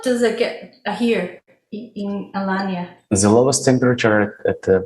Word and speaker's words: Alanya: Alania, yes.